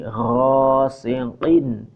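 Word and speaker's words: غاسق: Wa min syarri ghasiqin idza waqab. Wa min syarri gha, jangan kha ya, ini gha. Gha, jangan kha, salah. Ghain.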